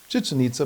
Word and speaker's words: Chichen Itza: And I always pronounce that one wrong also. What were you calling it? Chichen Itza, but it doesn't sound right when I say it.